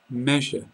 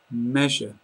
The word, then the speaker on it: measure: prioritization secr sequencing sequencing measure measure so the sound we're looking at here is like a soft J if anyone speaks French